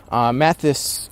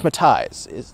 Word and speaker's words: Matthijs: Mathis, or is it Matthijs? It's Matthijs. Isn't it?